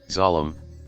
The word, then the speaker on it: Zalem: Interestingly, Zalem, pronounced Zalem in the movie, is in the original